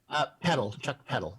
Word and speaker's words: Chuck Peddle: Chuck Peddle.